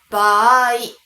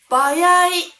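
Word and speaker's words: 場合: Cách phát âm chính xác là "baai". Nhưng hầu hết người Nhật phát âm nó như thế nào trong giao tiếp? Đúng vậy, "bawai". Và những người lớn tuổi hơn một độ tuổi nhất định có thể phát âm là "baya".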